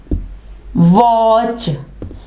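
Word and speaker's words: watch: For example वॉच, वॉच, देखिए वॉच, हमने टी यहाँ पे नहीं पढ़ा, वॉच नहीं कहा हमने क्या कहना?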